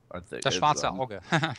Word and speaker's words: Das Schwarze Auge: Das Schwarze Auge. Yeah, I'm mispronounced.